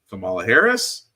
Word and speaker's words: Kamala Harris: can tell them the approach now of course Kamala Harris that is how you pronounce her name which is surprising to me